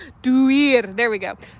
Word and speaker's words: Duir: The word for one of the words for oak is duar. I'm trying to say it right. It's like a door. Duir. There we go. Duir.